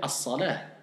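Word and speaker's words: الصلاة: Mais normalement, si je veux parler, je vais dire, soit je vais dire as-salatu, ou soit je vais dire as-salah. Ok, parce que ça, as-salah, il termine par un ta marbuta. Ok? Et c'est pour ça que comme le ta marbuta va m'indiquer, soit je vais dire as-salatu, ou si je veux pas dire as-salatu, je vais dire as-salah. Et pas as-salat. D'accord?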